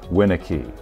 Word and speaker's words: Winicky: all in lowercase, W-I-N-A-H-K-E-E, Winicky. It doesn't tell you what syllable to emphasize. Even if it's written correctly, with the first syllable in capital letters, capital W-I-N, then dash lowercase, A-H dash K-E-E, Winicky.